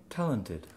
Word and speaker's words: talented: Talented. Talented. Need to be clear on the second D.